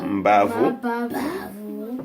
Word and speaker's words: Mbavu: Mostly they put M to differentiate. You need to be aware of it. When you pronounce a word like this, if M was not there, it would have been called Bavu. But because of the M, they say Mbavu.